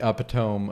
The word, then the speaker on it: epitome: It's like the epitome of that's how you say it.